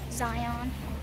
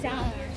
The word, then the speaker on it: Zion: Zion. Not how you say it, people. It's Zion.